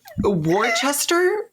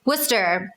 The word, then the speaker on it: Worcester: is better than him worchester worchester your shirt how are you saying this worcester excellent with here yeah let's pronounce worcester not my house sweaty